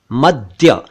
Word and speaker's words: मद्य: एक शब्द है मद्य। इसे कई लोग मध्य या मध्य कहते हैं। यह है मद्य, मद्य।